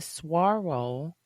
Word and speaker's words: Saguaro: It was my first time in Tucson, and I was at the Saguaro National Park.